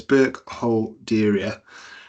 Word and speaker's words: Burkholderia: So, I've broken it down there. I took inspiration from John's Cander Design um advice on how to pronounce it. So, it's Burke Holeria.